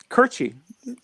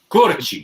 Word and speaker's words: Curci: How exactly do you pronounce the last name? Curci. Curci. You guys did it. Yeah. Yes. Okay. Curci.